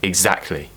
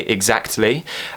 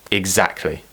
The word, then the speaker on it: exactly: to pronounce it as exactly now some people yes they still do pronounce it with the T and they will say exactly that's more of a